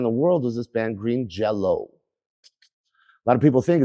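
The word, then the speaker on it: Green Jellö: So what my fucking moronic dictator of a satanic alien cult did, he put the Sunday goose above the Y, whatever you call him, so you would pronounce it Green Jello.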